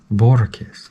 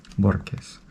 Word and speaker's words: Borges: Borges, that's who it is. Borges, but people say Borges, almost like there's a K in there. Borges.